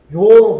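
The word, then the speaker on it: 樂: 이거는 음이 세 가지가 있습니다. 즐겁다 그럴 때는 락, 좋아한다 그럴 때는 요로 발음납니다. 그죠? 락, 요. 그 다음에 음악 그럴 때는 악으로 발음납니다. 그래서 여기서는 좋아한다는 의미니까 요라는 음을 붙이고 여기서는 즐겁다 그러기 때문에 이건 락이 되는 겁니다. 락이 되는 거예요.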